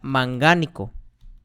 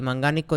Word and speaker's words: mangánico: En este caso, el manganeso sería mangánico, ¿okay? Y y mangánico lleva acento en la A.